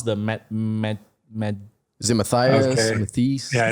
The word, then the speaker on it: Matthijs: And how do I pronounce the Matt? Is it Matthijs? Okay. Matthijs? Yeah, it's Matthijs.